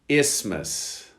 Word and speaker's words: isthmus: Number 43, isthmus. You don't pronounce the TH necessarily.